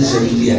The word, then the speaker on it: Syadiliyah: Ini bacanya Syadiliyah ya, bacanya kan.